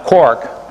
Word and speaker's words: quark: stuck together that way so it is usually pronounced Cork in any event they